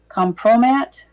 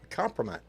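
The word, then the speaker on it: kompromat: It's a it's a Russian slang word if I can pronounce it. Compromat. Compromat. Compromat.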